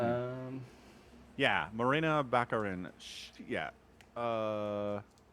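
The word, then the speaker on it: Morena Baccarin: how do we say her name um yeah Marina bakarin yeah uh right so she plays um oh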